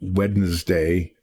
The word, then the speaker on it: Wednesday: Just like in Wednesday, people put the N in front of the D when they say Wednesday instead of Wednesday, because Wednesday is really hard to say.